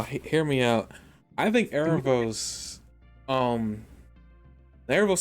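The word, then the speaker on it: Aaravos: that like they've been work working with is azarel is it I'm I'm rough on the pronunciation like Aros Aros thank you Aros is obviously got something under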